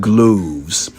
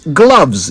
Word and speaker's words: gloves: of the confusion but it's gloves like doves not gloves like loaves the word gloves originates